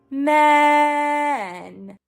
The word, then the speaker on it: men: If the back of your tongue is high, we're going to get that other sound. Flat tongue. Keep the back down. Relaxed. Men. Men and E. We're going to keep our tongues. Other words, we do not want a nasal vowel.